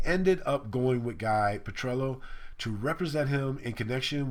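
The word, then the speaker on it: Petrillo: and Emory he was also talking to guy Petro who he later on in June whatever the date was he announced publicly that he was going to retain guy patrello sorry I said the name wrong earlier uh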